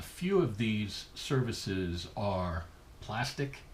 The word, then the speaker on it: Plastiq: A few of these services are Plastic. It's spelled Plastiq.